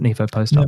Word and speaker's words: NIVOPOSTOP: So the summary from the discussion, I guess, of the study, the NIVOPOSTOP study, Josh, is how you pronounce it, NIVOPOSTOP.